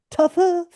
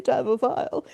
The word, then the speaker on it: taphophile: Taphophile, is that how it's pronounced? Yeah, taphophile. Okay. No, it's taphophile. But in common parlance, it's acceptable to say taphophile.